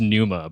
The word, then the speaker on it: Pneuma: It also got like a silent P in front of it. Numa's name is not spelled like that. Um So the song name is Pneuma?